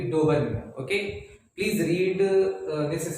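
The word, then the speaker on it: Döbereiner: तो answer would be डोबर्नियर। Okay, please read this spelling also and learn it.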